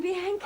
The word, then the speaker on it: Bianca: Bianca, darling, Bianca. Oh, sorry. It's easy to remember. It rhymes with anchor.